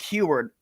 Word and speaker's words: Huard: name he's a former quarterback for Washington oh heward is it heward yeah thank you Brock Huard okay so I want to make sure I pronounce that name correctly before I I'm mispronouncing